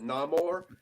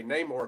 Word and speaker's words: Namor: say Neymar obviously because even though he pronounces it no more you hear um you hear shuri and other people say name or throughout the film I think it was